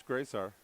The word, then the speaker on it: Grisart: Dennis, I'm blaming that mispronunciation on you, by the way. It's Grisart. That's what Coach gave me anyway.